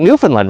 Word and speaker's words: Newfoundland: You think Newfoundland rhymes with Disneyland.